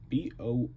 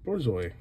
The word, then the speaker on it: Borzoi: B-O-R-Z-O-I, Borzoi.